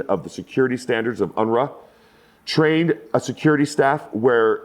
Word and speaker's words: UNRWA: Head of safety and security for the UNRWA which is the ENRA I believe is how it's said.